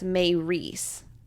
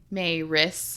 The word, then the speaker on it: Maris: While Clary is giving Simon the rundown, Luke chimes in and corrects the pronunciation of Maris's name. He breaks it down as Mayris. Is that? Mayris. Mayris? Is that what it is? I mean, that's how I've always heard it say is Mayris or Maris.